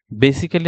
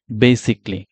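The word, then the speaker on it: basically: যাচ্ছে যে আমরা এই ওয়ার্ডটাকে আসলে বেসিক্যালি বলতেছি বেসিক্যালি আসলে এটা কারেক্ট ওয়ার্ড প্রনান্সিয়েশন না সো এটার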